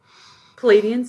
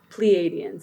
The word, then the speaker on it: Pleiadians: Palladians did? Pleiadians. That's how you pronounce it.